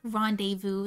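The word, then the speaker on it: rendezvous: like lingerie and um rendevu like you're going to read rendevu is rendis you're not going to know it's going to be pronounced rendevu until you hear someone pronounce it rendevu desertation oh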